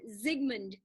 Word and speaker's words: Sigmund: german number two is s's are pronounced like z's in german so sigmund freud but i'm not